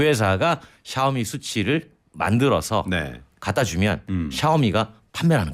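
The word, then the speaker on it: SU7: 어떤 정차 현장에서는 아무래도 수치죠 아 수치 수치 예 뭔지 아시죠네 어 샤오미가 만든 수세 아 예 그러니까 이제 중국어 7 발음이 치가 되니까 수치 이렇게 하죠 깜짝놀 그렇죠 우리의 언어로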